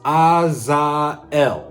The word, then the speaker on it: Azael: But as far as I know, based on the true Hebrew version of how you say the name, it's Azael.